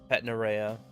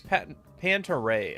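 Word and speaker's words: Panta Rhei: Zeodine, Agudine, and Patnarea. Is it Pantaray? It's Pantaray, isn't it? Not Patnarea. Dang it.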